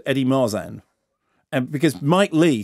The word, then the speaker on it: Marsan: of soft s yeah so marsan is French yeah yeah so Mike